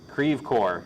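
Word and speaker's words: Creve Coeur: right now it's definitely confirmed I can see creeve core okay thank you Samantha I I'm I am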